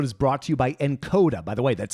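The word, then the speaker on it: Nkoda: Steve this episode is brought to you by encoder by the way that's spelled NK Oda this app is like Netflix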